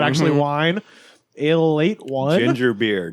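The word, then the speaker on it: Ale-8-One: this is something called a late one uh it's it says ale 81 but it's pronounced a late one a late one uh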